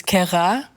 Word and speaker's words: Kayra: My name is Kayra, but the way to actually pronounce it is Kayra.